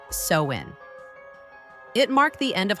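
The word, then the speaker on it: Samhain: Over two millennia ago, the Celtic people of Ireland, Scotland, and Northern France celebrated a festival called Samhine, pronounced sewin.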